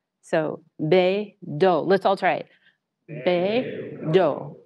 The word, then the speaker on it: BeiDou: So the way I remember it is hey yo. So BEIDOU.